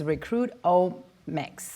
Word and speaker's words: Recruitomics: So you said it's Recruitomics. Yeah. Right? It's like genomics or economics.